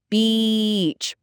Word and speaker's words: beach: Think of it like B plus ch, beach. But for bitch, which is a very impolite word, for a woman, it's a short eh sound, like in bit.